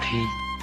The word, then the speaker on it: thí: thí kinh thí Thắng chữ thí còn được đọc là Thi Thi có nghĩa là làm thi hành nhưng chữ Thí ở đây được đọc là thí tức là là hiến